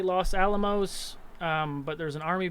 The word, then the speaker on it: Los Alamos: somewhere lost am i am i saying it right los alamos is that the right